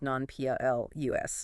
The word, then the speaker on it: nonplussed: Okay, this next one, nonplussed. Nonplussed. This sometimes trips people up, but the source definition was quite specific. Yes, nonplussed, international, USEAS, non-PLUS. And the definition provided was